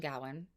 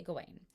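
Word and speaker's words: Gawain: I recommend is sirain or some people call pronounce his name gawan both are correct I say gain so uh night of the Goddess by John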